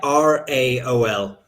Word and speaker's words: Raoul: Raoul McLaughlin. Raoul or Raoul, I can't pronounce it. Raol.